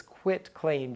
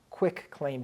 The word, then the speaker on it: quitclaim: and spell it correctly it's quit claim deed CI t c a i m it is not quick claim deed when someone says that they just look like they don't know what they're talking about